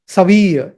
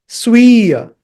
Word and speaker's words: स्वीय: Now again, I have heard many North Indians especially chanting it wrongly. बहुत से जो उत्तर भारतीय लोग हैं इसको ठीक से उच्चारण नहीं करते हैं इसका. वो कहते हैं सवीय. Saviya. It is not saviya. Sviya. It is not saviya because there is a half sa. The sa is only half.